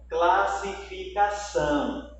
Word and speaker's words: classificação: Ó, classificação. Observe que a palavra são, a sílaba são, ela é a mais forte.